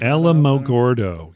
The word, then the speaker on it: Alamogordo: Okay, I still don't know how to pronounce this. Alamogordo. Alamogordo. Alamogordo. There you go. I don't know. I just reeled Alamogordo.